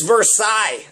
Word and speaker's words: Versailles: It's Versailles. That's how you pronounce it.